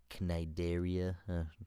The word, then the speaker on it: Cnidaria: Up next, we got the Nidaria, the jellyfish thingies. Oh. I don't know how to pronounce that. It's got a C in it. Cnidaria.